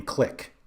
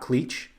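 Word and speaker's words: Klich: was blown away that you pronounce his name click and not cleach and it actually made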